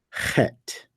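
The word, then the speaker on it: חית: mouth open while blowing a raspy sound from the back of your throat. So you're doing that sound, but then you're adding to the sound, you're adding a little bit of a little raspiness.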